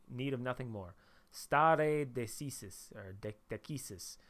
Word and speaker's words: stare decisis: of nothing more stare decisis or decisis so i pronounce my latin with the classical um pronunciation some people might call this stare deccas i'm i've took in